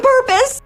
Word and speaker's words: purpose: Say per and P-O-S-E is pronounced like pus. Purpose.